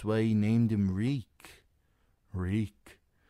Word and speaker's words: Reek: "Reek. My name is Reek. It rhymes with bleak."